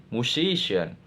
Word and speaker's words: musician: Musician. Explanation. The suffixan restructures stress by assigning prominence to the syllable immediately before it resulting in a different stress location from the base noun.